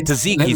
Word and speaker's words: tzatziki: It would be the tzatziki sauce.